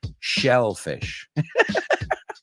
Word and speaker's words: shellfish: And this one is shellfish. Si pronuncias mal, marisco, pues estás diciendo... si pronuncias uno mal, estás diciendo el otro, right?